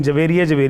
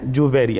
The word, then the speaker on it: جویریہ: لیے بھی ہے کہ یہ تلفظ درست کر لیں. ہمارے یہاں عموماً بچیوں کا یہ نام محبت سے رکھا جاتا ہے، لیکن جویریہ کہتے ہیں. نہیں، جویریہ ہے.